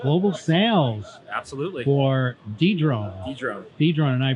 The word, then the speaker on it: Dedrone: Dedrone. And I pronounced it correctly.